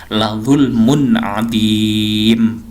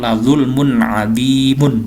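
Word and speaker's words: لَظُلْمٌ عَظِيمٌ: La zulmun adim. Jadi bacanya bukan la zulmun adimun, bukan. Ini juga bukan ilayyal masiru, bukan, tapi ro-nya dibaca mati.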